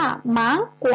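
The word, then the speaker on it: 芒果: คะ ม่วง แล้ว ก็ จีน ออก เสียง ว่า มั้ง กว่า มั้ง กว่า นัก เรียน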